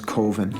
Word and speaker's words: Coven: of the film is koven koven koven coven that's the proper pronunciation no no coven sounds like Oven Man and that's just it doesn't work every time we got